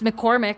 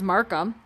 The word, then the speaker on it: Markham: time i was here i said your name wrong i said miss mccormick and i know that's not your name your last name was markham i know miss miss